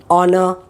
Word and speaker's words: honor: is the phonic sound, but you have it silent in many words like honest, honor, are, all that H is there but it is silent.